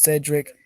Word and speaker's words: Cedric: Okay, I'd be like, the full name, true name, Cedric Sephiroth Veliano, pronounced Cedric, and Ced, and then Rick, Veliano, and then the gender would be male.